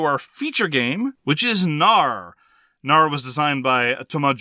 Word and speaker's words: Knarr: It is Knarr. The K is silent.